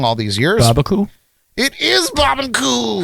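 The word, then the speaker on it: Barbancourt: there and uh I learned that I was pronouncing it wrong all these years it is Bob and cou how did you know my favorite too yes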